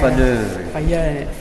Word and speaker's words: Faneuil: Faneuil. Very good. You're the only one who can pronounce that.